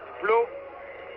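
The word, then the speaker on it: Pleau: Ce n'était donc pas une glace trop glissante, c'est Flo qui a fait un petit croche-pied à l'ami Sushi. Flo étant mis en prison, Flo, ça s'écrit en français, P-L-E-A-U, c'est un descendant de français sûrement.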